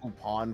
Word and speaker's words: Lupin: III for some reason they're pronounced well I sort of pronounce the same it's pronounced upon for Lupine the third but it's a tomato tomato kind of thing yeah because it's a French pronunciation yeah and it's spelled